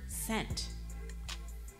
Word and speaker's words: scent: Which letter is silent in the word scent? Is it C or is it the S? It's the S.